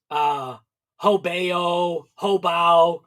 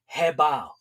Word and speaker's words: HoBao: why I pronounce, like a lot of people pronounce the name of that company right there. Hobao, whatever, but it's actually pronounced, which is weird, Hobao.